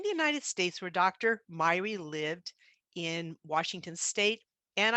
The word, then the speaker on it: Myhre: present pronounce this name so this is norwegian and when i've talked to my scandinavian friends they've said it's pronounced miera or miyori in the united kingdom i've listened to people pronounce it myra and in the united